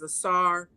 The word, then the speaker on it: Asar: use those terms, but the Medu Neter clearly has it written to pronounce it as Asar, Aset, and Haru.